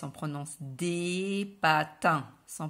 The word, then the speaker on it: patins: au pluriel alors attention pour le pluriel par exemple ici des patins on prononce pas le s en prenant ce des patins sans prononcer le s